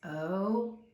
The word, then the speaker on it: oat: And we also talked about how the vowel sound of the letter O is long, the A is silent. Anytime O and A come together in the middle, the first vowel does the talking, the second one does the walking.